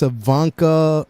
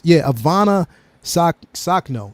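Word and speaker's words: Ivanna Sakhno: read it off because I think it's Ivanka. What is it? No, it's Ivana Sakno, and the first time I actually seen it, because I went back and watched it again.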